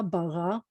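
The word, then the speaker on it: ברא: When an Aleph at the end, it's not just mostly silent, it's essentially silent. It's silent at the end of that word too.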